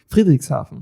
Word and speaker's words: Friedrichshafen: My German's not great, so I'm going to struggle with the pronunciation, but there's a big village in, I think it's Friedrichshafen. Friedrichshafen. Yeah, there you go. So there's the German saying of it.